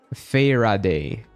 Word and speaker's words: Faraday: How do you pronounce it? Faraday.